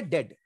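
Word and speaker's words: debt: बाद टी आया है जब कभी भी बी के बाद टी आएगा तो आपको बी को साइलेंट कर लेना है तो इसको दीप होने वाला है कर्ज उधर तो हम इसको बोलेंगे डेड डेड बोलते हैं डेट नहीं बोलते हैं तो यह एक रूल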